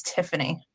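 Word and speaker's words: Theophanie: But if you go back to the original spellings and how things were pronounced at the time when that particular name came about, it's Tiffany.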